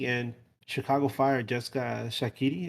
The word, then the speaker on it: Shaqiri: And then you look elsewhere in the league, and Chicago Fire just got Shaqiri. Is that how you pronounce it? That's it.